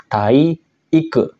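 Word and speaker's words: 体育: dengan kanji berikut ini dia dibacanya ongyomi juga minasang tai Ike nah iku di sini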